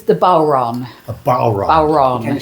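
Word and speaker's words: bodhrán: It's it's the bal. Can you spell it? B O D H R A N. It's one of those weird Gaelic words.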